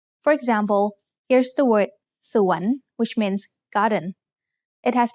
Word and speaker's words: สวน: สอเสือ สระอัว using วอแหวน นอหนู สวน สวน has a rising tone because it has a high-class initial consonant combined with a live syllable ending.